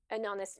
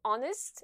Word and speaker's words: honest: Et non, car dans le mot honest, le H ne se prononce pas.